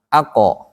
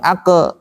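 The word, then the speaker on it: ق: Saat kof, ako, bukan ake. Karena kalau ake jadi tipis.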